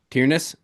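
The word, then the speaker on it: Tyranus: Tyrannus. Yeah. There's no I'm I'm adding an extra syllable.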